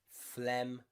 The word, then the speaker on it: phlegm: Paradigm, phlegm, and diaphragm, okay? So G and M together often means the G is silent.